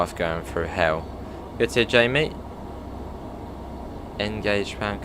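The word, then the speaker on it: Hayle: yes it's called hell is that how you even pronounce it hell i suppose it probably is i can't think of any other way you pronounce it it's h-a-y-l-e i would say still must be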